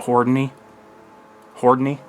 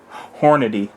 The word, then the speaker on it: Hornady: about now what I carry in is the Hy Hy don't know why I pronounced that wrong Hornady Critical Duty and uh this is the 135